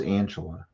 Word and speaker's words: Angela: this year oh we overthink it it's just Angela oh we do yeah we just don't want